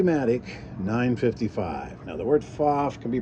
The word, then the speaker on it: Pfaff: Now, the word Pfaff can be pronounced Pfaff or Pfaff.